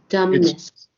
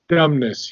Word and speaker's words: dumbness: um by the way the be is not pronounced in dumbness okay dumbness dumbness yeah m and and